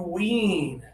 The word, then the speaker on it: wean: This one has the high tongue, not much air. So, if you think about your front teeth right here, and you think about the top of your mouth, and this is your tongue, your tongue is high, and there's just a little bit of air for this one.